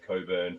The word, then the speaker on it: Cockburn: Uh, which if you look at the spelling it says Cockburn, but it's actually pronounced Coburn.